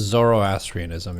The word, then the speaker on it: Zoroastrianism: Is that how it's pronounced? Zoroastrianism, yeah.